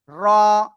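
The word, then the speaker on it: ر: র। র। র। জিহ্বার আগার পিঠ তার বরাবর উপরে তালুর সাথে লাগিয়ে র অক্ষরটি উচ্চারণ হবে মোটা আওয়াজে এক আলিফটা নিয়া।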